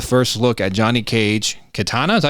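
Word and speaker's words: Kitana: Uh, we get the first look at Johnny Cage, Katana.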